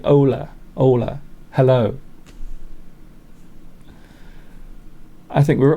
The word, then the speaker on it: hola: Hola. I don't think you pronounce the H though, do you? I think it's more like Ola.